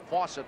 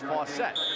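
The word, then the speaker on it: Faucette: apologize to chuck because we've been pronouncing his name fawcett all year long that's what we thought it was supposed to be but now we're told it's fossett i just learned how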